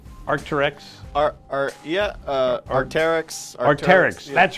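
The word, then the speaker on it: Arc'teryx: I didn't know if but I have been pronouncing Squamish correctly the whole time. Yes. The Arcteryx Squamish hoodie, women's size small, and we've got 3 qualifiers so far: Michael, Mary, and Pam.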